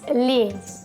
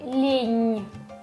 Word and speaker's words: лень: The word laziness, лень. With this soft sign, it sounds like лень, лень.